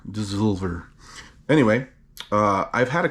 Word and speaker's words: Dssovlr: from a relatively recent brewery called dissolver which is spelled d-s-s-o-l-v-r dissolver anyway uh i've had